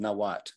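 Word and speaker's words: Nahuatl: of the vocabulary it's the language called nawat it's spelled with an L on the end but every time you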